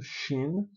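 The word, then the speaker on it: שׁ: Aí você tem o shin, quando tem um um pontinho aqui do lado direito, shin, e quando ele tem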